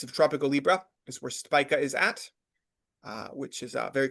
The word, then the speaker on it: Spica: The next star, a very cheerful one, very, very optimistic and benefic star, Spica, or Spica, as some Mm. people pronounce it.